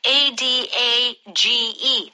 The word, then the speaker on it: adage: First, our power vocab, A-D-A-G-E. How do you pronounce that?